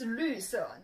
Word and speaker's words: 绿色: Now this pronunciation can be a little bit tricky. Let's work on it. So make sure your tongue go stick out a little bit, and your mouth is like a little funnel.